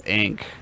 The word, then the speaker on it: Inc: I've been saying incorporated its Inc its Inc pronounced like the stuff in pens because that is very